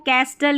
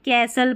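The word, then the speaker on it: castle: टी देखें, STEN, ठीक है, और STLE ये वाला कॉम्बिनेशन रहता है, यहाँ पर टी साइलेंट रहता है। जैसे इसको लिस्टन नहीं लिसन पढ़ेंगे, यहाँ पर इसको कैस्टल या कास्टल नहीं कैसल पढ़ेंगे, ठीक है, टी साइलेंट है।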